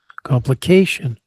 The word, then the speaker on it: complication: Complication. Third syllable. Not the fourth syllable.